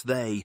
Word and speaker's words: They: all is the mysterious they which is pronounced with a hissing th like thin or think they had their ancient